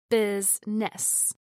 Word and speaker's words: business: Business is pronounced with two syllables, business, instead of three.